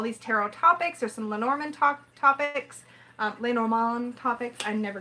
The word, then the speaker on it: Lenormand: It's Lenormand. Lenormand, yeah. But I always call it Lenormand, because stuck in my head. Well, it can be lay and it can be le, depending on the context.